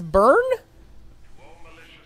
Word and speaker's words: Byrne: just read it it's burned by your I was saying bull urine it's pronounced burn yes then you get Barbie